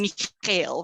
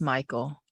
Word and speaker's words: Michael: That's what I'm always telling Mikhail, right, Mikhail? It's Michael. You never say it right.